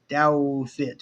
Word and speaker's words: Douthit: But uh Someone asked how you pronounce my last name, Douthit. Douthit. It's German.